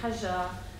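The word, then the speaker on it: Hajar: holy city of mecca her name pronounced in arabic with the soft ji hajja becomes one of the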